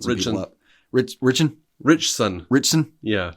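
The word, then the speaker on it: Ritchson: I think alen richson it's like rich and there's a t for some reason and then there's the word sun right and like I don't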